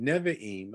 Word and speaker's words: Nevi'im: If you are writing this down, Nevi'im, I forgot to spell it for you in case you need that, is Neviim.